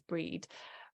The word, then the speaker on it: Brigid: Brigid or Bridget um I pronounce it as breed but she is this